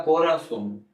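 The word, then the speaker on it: corazón: अब मैं बताता चलूं कि जेड को स्पेनिश में स कहते हैं। जेड को स प्रोनाउंस करते हैं। ठीक है? जेड को स प्रोनाउंस करते हैं और ज को है प्रोनाउंस करते हैं। याद रखिएगा। तो मैंने लिखा कोरासोन। कोरासोन।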